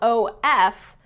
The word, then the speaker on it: of: You'll notice that it's spelled O-F, but the pronunciation is very different than that. It's of, okay? A lot of times this of in connected speech becomes okay?